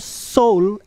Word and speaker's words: S8UL: Bacanya gimana? Ya itulah, Seoul.